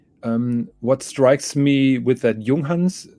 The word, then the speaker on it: Junghans: What strikes me with that Junghans, that is the proper pronunciation, by the way, Junghans, is it doesn't have a changing city ring.